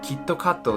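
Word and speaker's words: キットカット: for their advertising technique japan kitkat is pronounced so kitto katto sounds oddly film similar to a japanese word which means you will surely win or you know you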